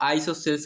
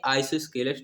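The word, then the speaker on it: isosceles: इसको कुछ लोग आइसोसेल्स बोल देते हैं, लेकिन इसको सही सही आइसोस्केलस ट्रायंगल बोलते हैं।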